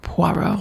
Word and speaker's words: Poirot: tried to kill Poirot off once.